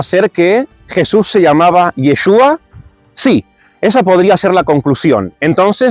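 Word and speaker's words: ישוע: muda y por tanto si confundían la ain con la Alf es muy posible que aunque escribiese yeshua cuando cuando lo leían o cuando lo llamaban en realidad pronunciaran yeshu y por tanto no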